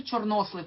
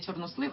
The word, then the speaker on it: чорнослив: нас фіолетове чорнослив Ага знаєте що чорнослив правильно ударение ставиться в українській мові не чорнослив а чорнослив так баклажан червона цибуля